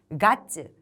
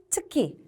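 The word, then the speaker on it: 月: 그래서 이 달 월자의 음독은 가츠 또는 게츠 두 가지가 있고 훈독은 츠키, 즉 달이라고 할 때는 츠키라고 읽습니다.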